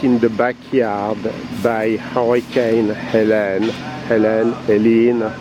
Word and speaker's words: Helene: the backyard by Hurricane Helen Helen Helen not sure how to pronounce that at least with the French accent it's elen somewhere we got lucky